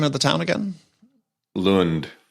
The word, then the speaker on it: Lund: but I don't think we had anybody from pronounce the name of the town again Lund Lund and here we are 10th of January so